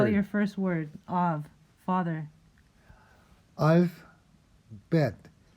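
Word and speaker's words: אב: Av, father. Alf, bet. Pronounce av. Remember I told you that kind of hybrid B sound? Kind of B, kind of V.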